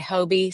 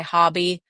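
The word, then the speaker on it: Hobbii: It's with Hobie. Um I'm not sure if I'm pronouncing that right. Sometimes I hear people say Hobie, some just say hobby. Uh I've heard hubby.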